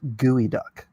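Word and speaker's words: geoduck: It's pronounced gooey duck. Don't ask me why the spelling doesn't match how it's. Oh yeah. That looked like some gooey duck for certain.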